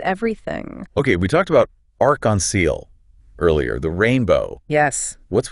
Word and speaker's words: arc-en-ciel: So how do we pronounce that? Arc-en-ciel. All is one word. Arc-en-ciel.